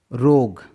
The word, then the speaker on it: rogue: गेस, ROGUE, यहाँ पर देखिएगा जी है, यू और ई इसलिए यहाँ पर यू साइलेंट है। रोग, इसका करेक्ट प्रोनाउंसिएशन क्या है? रोग।